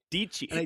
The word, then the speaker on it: Dayze: Daysze. It's Daysze. Oh, it's like Nietzsche.